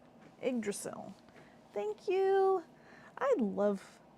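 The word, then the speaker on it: Yggdrasil: r a s i l that sounds cool igil igdrasil thank you I love pronunciation keys I do it with my name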